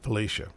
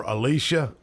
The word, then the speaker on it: Felicia: He would pronounce her name right, Felicia. Really? Some other people, which I won't say their names, they're elected officials, and they would call her Alicia.